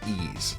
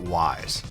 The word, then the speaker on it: Ys: And yes, this series is pronounced Ease, not Wise, so don't even try it that way.